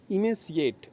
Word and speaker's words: emaciate: Spelling है EMACIATE, जिसको इनंसिएट करेंगे हम इमेसिएट। इमेसिएट इसका शुद्ध उच्चारण होगा, जिसका अर्थ होता है दुबला या शक्तिहीन।